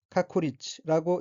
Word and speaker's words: 確率: 둘째 줄 첫 번째 어휘의 한자는 확률이고 각기 구들확, 비율 률자이고 일본어로는 카쿠리치라고 읽으며 카쿠리치는 확률이란 의미입니다. 다음 어휘는 한자가 량다이고 일본어로는 료타라고 읽으며 료타는 본소설에서 주인공인 아버지의 이름입니다.